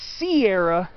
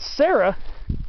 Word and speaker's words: Sierra: So serrano, because the stress is on the A, serrano, when it becomes Sierra, when the stress falls on the E. It's not Sarah, even though the name